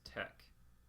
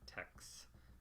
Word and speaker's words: TeX: all what is tech the letters T E and X at the top of the screen are actually Greek letters tau epsilon and Chi so you would pronounce this tech rather than text like a tex-mex food or something like that it's a name of